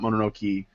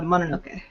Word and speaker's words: Mononoke: have been saying it's more than okay not Monroe key so just that it's like saying okay that is mom can't pronounce English it's pronounced it's pronounced a Mononoke yeah modern okay so it doesn't matter whatever